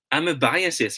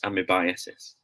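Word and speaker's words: amoebiasis: the big reveal guys this word should be pronounced as bam i'm a biases guys this might sound like a surprise to you know but it should be really pronounced as amy biases okay we are thinking that it's pronounced as i mean because of the word amoeba right that the root word but then again it should be pronounced as i'm a biases remember that i'm a biases in the amidbiasis okay so see angela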